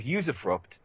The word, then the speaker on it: usufruct: know anybody who's looked up the doctrine of usufruct. That's U-S-U-F-R-U-C-T. Usufruct. Can you spell that again, Michael?